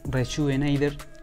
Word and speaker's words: Reshoevn8r: Así se pronuncia, Rejuvenator. El 8 se pronuncia como un 8. Lo pueden comprar en la página web de Rejuvenator, donde podrán encontrar un